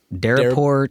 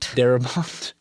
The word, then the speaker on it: Darabont: Uh, Larry Cohen, Frank Deraport, Darabont, William Goldman. Wait, wait. I'm sorry. Did you just mispronounce Frank Darabont's name?